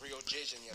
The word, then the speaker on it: Rio de Janeiro: That's right, it's pronounced Rio de Janeiro, that's why Rio de Janeiro. Get it right, we're not in Mexico. This is Portuguese, not Spanish.